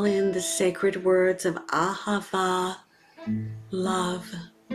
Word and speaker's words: Ahava: Call in the sacred words of Ahava, love, all three syllables are Ah, the universal vowel for love.